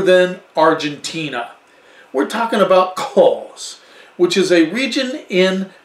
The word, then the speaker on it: Cahors: Cahors, as they say, we might say Cahors, because that's what it looks like. But they kind of, you know, it's French, so it's Cahors. I believe that's how they say it.